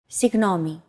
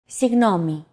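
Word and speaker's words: συγγνώμη: lesson two do you remember what it was signomi and it means excuse me or I'm sorry signomi use this phrase when you want to grab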